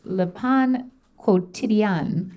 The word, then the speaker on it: Le Pain Quotidien: - I know it's Pain, you don't pronounce the N, Carney, I know that.